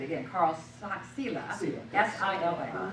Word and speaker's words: Sila: Carl Sila.